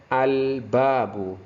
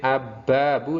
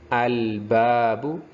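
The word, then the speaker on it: الباب: Kemudian 2, ba itu termasuk juga huruf komariah, al-babu. Jadi jangan sampai abbabu, tapi harus terbaca al-babu.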